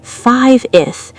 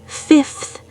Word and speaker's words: fifth: 95th 5 V changes to an F before the th. It's not 5th, it's fifth.